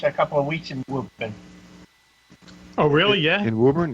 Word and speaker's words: Woburn: school, I spent a couple of weeks in Woburn. Oh, really? Yeah. In Woburn, really? Yeah, and I always love the fact that it's pronounced Woburn and not spelled that way.